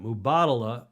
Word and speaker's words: Mubadala: performance in Abu Dhabi not likely the M mubadala you pronounce that I've learned again to pronounce that mubadala Abu Dhabi s Grand Prix will take place